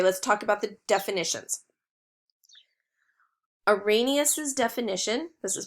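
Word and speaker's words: Arrhenius: it down okay let's talk about the definitions a rainiest is definition this is pronounced Irenaeus is that an acid gives a hydrogen ion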